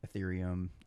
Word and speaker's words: Ethereum: got done, and he was talking about that Ethereum.